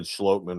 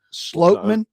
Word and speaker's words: Schlottman: You said Schlottman wrong too. No, for the my record. bad. Schlottman. Slotman. I was telling. That's how you say it.